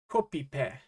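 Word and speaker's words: コピペ: If we sound it out, it would be pronounced kopipe. Kopipe.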